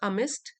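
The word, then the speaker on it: amidst: Anchoring him अमिस्ट, D silent है इसमें।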